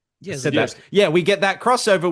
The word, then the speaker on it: Zdarsky: Zdarsky.